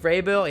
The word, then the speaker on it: Vrabel: Vrabel? I don't want to say it wrong. Let me look at it. Mike Vrabel, I believe I was right.